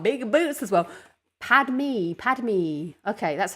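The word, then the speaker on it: Padmé: you got some big boots as well padme padme okay that's how you say it pad me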